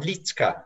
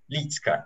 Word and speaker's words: Liedtke: Is it Liedtke? Liedtke? You can pronounce it that way, it'd be fine. Litzka. It's sort of Liedtke. Litzka, you got it.